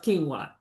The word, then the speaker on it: quinoa: Cuz when you look at that qu i n o, ain't nothing tell you that that's pronounced quinoa.